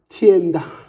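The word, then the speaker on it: 天堂: 티엔당. 티엔당. 그게 바로 천당이란 말이에요. 중국 발음은 티엔당이라고 그래요.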